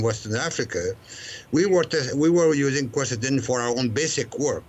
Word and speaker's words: quercetin: I want to make sure I pronounce this correctly. Quercetin.